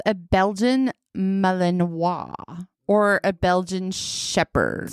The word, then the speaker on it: Malinois: It's called a Belgian Malinois or a Belgian Shepherd. So it's like a Millinois. A Malinois. Millinois. Like Brunois.